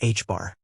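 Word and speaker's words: ħ: pi denoted by equals h pronounced h bar.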